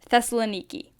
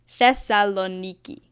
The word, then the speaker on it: Thessaloniki: a flight to our first destination in Greece Thessaloniki now this might just be me but it took me like a week to learn how to pronounce this so I'll say it again thessaloniki thessaloniki it's not that hard we landed around